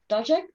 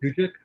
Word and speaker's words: Dujek: She is afraid of the fact that the Dajek, that's how you pronounce it, Dujek? Dujek? Yeah. Dujek, okay, that his army is mostly made of Seven Cities soldiers, and Seven Cities about to rise up.